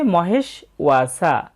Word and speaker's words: মহেষ্বাসা: তাই এখানে হবে মহেশ, আর ব ফলার জন্য উ অ হবে, তবে যেহেতু কার চিহ্ন রয়েছে তাই হবে উ আ। এবং এরপরে আছে দন্তস্ব, যার উচ্চারণটা হবে ছয়ের মতো এবং কার চিহ্ন সা, ওয়া সা, মহেশ ওয়া সা।